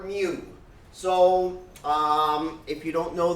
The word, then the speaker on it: mu: And you want to pronounce it correctly, not moo. It's not a cow. It's mu.